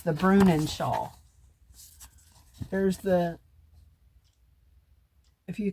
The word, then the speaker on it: Bruinen: figured it out anyway it is called The brunin Shaw it's spelled b r UI NE n and I